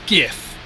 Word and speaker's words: GIF: By the way, anyone wondering, it is GIF. Those little animated things are gifs. Whoever calls them gifs, please explain why it's a you think it's a like pronounced as a J, a gif, cuz it's a gif.